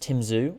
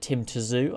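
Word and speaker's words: Tim Tszyu: and tim zu i've heard his name is just pronounced tim zhu was it tim tazu i think it's just tim zoo apparently um i i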